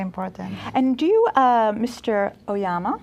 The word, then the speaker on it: Oyama: Oyama I love that your name rhymes with Obama no there's they call you Obama mr.